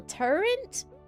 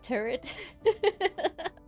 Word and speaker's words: turret: I have a grown-ass friend that says it's still turrent? I've never heard turrent instead of turret.